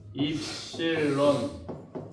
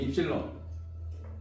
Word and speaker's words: 입실론: 엡실론. 입실론. 본토 발음 아닙니다. 그리스예요, 그리스. 선생님 본토 발음 못해요. 그냥 입실론.